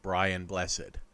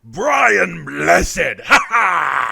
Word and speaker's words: Brian Blessed: he would first meet a young actor named brian blessed hold on i i mispronounced that name apparently it's pronounced brian blessed stewart would leave school at the age of